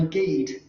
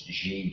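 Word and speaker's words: Gide: auden and shakespeare or mispronouncing french poet's name andre guide that's jade apparently you know so that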